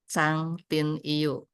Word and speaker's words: Trang Tin Yeu: Jadi nama asli beliau adalah, bukan nama asli, sebenarnya tulisnya adalah Trang Tin Yu, tapi bacanya adalah Chang Tin Yu, yang arti dalam bahasa Sanskertanya adalah Bhiksuni Srada Maitri.